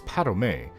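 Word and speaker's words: Padomay: anu and the fourth the very eyes of padam it's padomei it looks like i haven't read this in many years it's spelt pad home but it's pronounced padome feel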